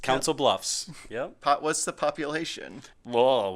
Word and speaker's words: Council Bluffs: How is it pronounced? Council Bluffs.